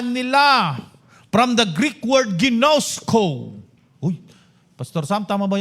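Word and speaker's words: γινώσκω: So makikita natin ang prayer niya is that they may know makilala nila from the Greek word ginosco. Uy pastor Sam tama ba yung pronunciation ko?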